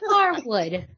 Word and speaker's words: Harwood: It's Dax Harwood. There's no D. Harwood. Huh. Good to know. I learned something new today. Harwood. Dax Harwood. No D. No D.